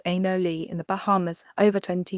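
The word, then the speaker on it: anole: Lois first formed this ad hoc study project when he was catching and measuring animal lizards pronounced anoli in the Bahamas over 20 years ago and noticed a female who was missing part of her hind leg.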